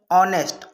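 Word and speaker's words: honest: इसमें भी देखो, जैसे ऑनेस्ट है एच, लेकिन इसको हम पढ़ते क्या है? ऑनेस्ट।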